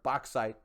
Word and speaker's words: bauxite: i personally i use bozeite and or bauxite if you want me to pronounce it correctly i use that uh